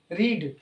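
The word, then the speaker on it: read: तो has Mohan रीड, देखिए रीड का फॉर्म में ऐसे चलता है, रीड, रेड, रीड। स्पेलिंग वही रहेगा, स्पेलिंग में चेंज नहीं, केवल प्रोनाउंसिएशन में थोड़ा डिफरेंट रहेगा।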